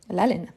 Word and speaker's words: haleine: Donc, la haleine, c'est H muet, l'haleine.